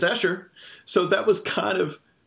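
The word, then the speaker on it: Esher: the comment section are like alright it's it's Asher so that was kind of it was not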